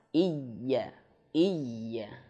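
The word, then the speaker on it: إِيَّاكَ: Iyya, iyya. Yang penting ada penekanan jelas.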